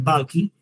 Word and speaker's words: bulky: Pero si la lesión mide más de 4 centímetros, que es lo que llamamos tumor bulky, y realmente se pronuncia bulky, que sería B labial, U-L-K-Y, bulky, si mide más de 4 centímetros, que es un tumor grande, ya estaríamos en presencia de 1B2.